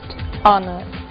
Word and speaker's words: honor: Blue White red yellow o som do H pronunciado desde a garganta como em hot e mudo em três casos our honest Honor e a frase de